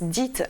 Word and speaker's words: DEET: Donc le diméthylméthylbenzamide, donc le DEET qu'on prononce DEET en anglais, qui est contenu dans